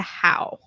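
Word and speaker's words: Hau: You pronounced it incorrectly. In PASM 16, he was revealed to have given it to How. Who? How, H-A-U.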